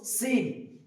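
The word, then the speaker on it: سين: তারপর আসছে সিন, প্রত্যেকবার বলে আমার সঙ্গে সঙ্গে আপনারা বলুন সিন, সিন, সিন। মুখের যে একটা সিটি সেটা বের হচ্ছে কিনা সেটা দেখুন, সিন, সিন।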